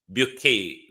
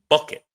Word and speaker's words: Bouquet: And we also want to speak to Hyacinth Bouquet this morning. You know, in Britain, in the natural world, it would pronounce bucket. But in the British upper echelons, it's pronounced bouquet.